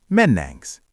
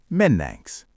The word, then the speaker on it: Mennäänks: But on the street in Helsinki, they use a shortcut. They swap the ending for a sharp. How would you ask a friend, shall we go the spoken way? Menangs.